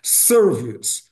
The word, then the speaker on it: service: Então é na primeira sílaba, service, ou seja, essa palavra tem duas sílabas, né? Então tem duas sílabas. Se i não é pronunciado, se é final, então apresenta duas sílabas.